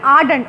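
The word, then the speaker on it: ardent: Burning thirst यानी आर्डेंट, और इसमें आर भी साइलेंट होता है।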